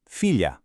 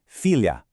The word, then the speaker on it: filha: We keep that exact same LH sound in the middle. That's not changing. But, look at the end. We drop that soft ooze sound and replace it with an open, clear ah. Your mouth actually opens wider at the very end of the word.